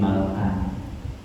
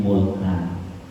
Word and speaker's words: Malkan: Guru saya bacanya Balyam bin Malkan. Ada juga yang baca Balyam bin Mulkan.